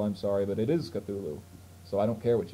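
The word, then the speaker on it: Cthulhu: the word cthulu before some people believe it's pronounced cthulu if you're one of those people I'm sorry but it is cthulu so I don't care what you think uh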